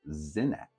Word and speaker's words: Senet: of ttin common it could have been pronounced sa and a thousand years earlier at the time of the period Builders it may have been pronounced zenet so now that you